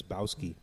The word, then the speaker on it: Bowski: Sometimes it's Bowski. Yeah, some of these motherfuckers can't pronounce my fucking stupid ass nickname. Listen, because I look at it as like bow and arrow, like bow, BOW.